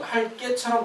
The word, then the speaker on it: 할게: 보통 이제 발음상으로는 지금 할 깨처럼 들리잖아요. 근데 표기할 때는 지금 깨가 아니라 개가 맞습니다.